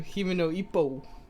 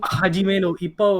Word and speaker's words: Hajime no Ippo: Alright, so Hime no Ippo. How do you say it? It's Himo? Hajime no Ippo, or that's how I remember it.